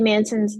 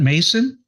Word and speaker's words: Manson: yeah so Shirley Shirley Manson's the lead singer obviously of garbage is that Mason Shirley Mason it's Manson I'm sorry the BIOS says Mas o n yeah it should be Manson Manson okay okay okay